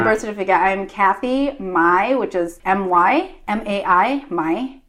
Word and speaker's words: My: my middle name is Mai, even though it's M-Y and it's got a slightly different tonal pronunciation. What do you... So the very common name is Mai, and mine is Mai.